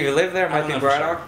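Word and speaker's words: Braddock: live there might be bradoock but since I say everything with a weird Pittsburgh accent it's bradic yeah it's bradic that's what I thought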